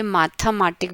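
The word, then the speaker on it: Mathematik: तो आपको इसका अभी प्रोनाउंसिएशन पढ़ना भी बहुत ज़रूरी है कि मुझे इसको बियोलॉजी ही बोलना है, या इसको मुझे माथमाटिक बोलना है, मैथमेटिक्स नहीं, माथमाटिक। ओके, आगे बढ़ते हैं।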